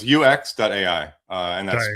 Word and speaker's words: UEX.ai: It's UX.ai, and that's Sorry.